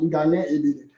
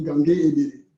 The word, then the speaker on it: Ngangue Ebelle: En Douala, ça se prononce Ngane Ebele. Bon, en français, on dit Ngangue Ebele. D'accord? Donc, c'est important pour moi d'avoir ce prononcé.